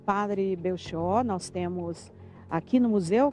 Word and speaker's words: Belchior: Sim, é Padre Belchior a pronúncia.